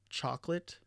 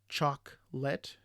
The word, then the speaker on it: chocolate: So we camera instead of camera, chocolate versus chocolate, aspirin instead of aspirin, and we have restaurant instead of restaurant.